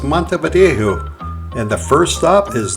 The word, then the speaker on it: Montevideo: from Canary icelands and the proper way to say this city is Mont vjo and the first stop